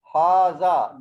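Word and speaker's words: هٰذَا: Haza. There is alif. We pronounce, but we don't write this one.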